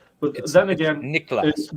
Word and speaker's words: Niklas: But then again, Niklas, right? Yeah, Niklas. So it's brand recognition is the hard to pronounce name is sometimes a brand recognition.